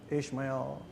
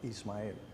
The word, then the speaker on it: Ismael: And I say, Ismael. And he said, Ismael. I said, yeah, you got it right.